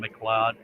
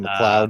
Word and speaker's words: MacLeod: got some bourbon by kevin mccloud mcleod is how it's spelled kevin mccloud yeah and i can't